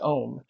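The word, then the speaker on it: Ohm: West-East podcast perspective because the character's name is spelled O H M, but it's pronounced Om.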